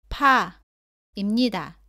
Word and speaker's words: 파: 다음은 바, 빠, 파입니다. 모두 바와 발음이 비슷한데 빠는 바보다 세게 발음하고 공기가 나오지 않습니다. 파는 바보다 공기가 많이 나옵니다.